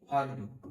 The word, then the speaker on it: herb: जैसे दोस्तों HERB, आर ई के बाद में आर आ रहा है तो उसको बोलेंगे हर्ब, जड़ी बूटी।